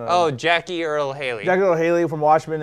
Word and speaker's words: Jackie Earle Haley: Jackie Earle Haley.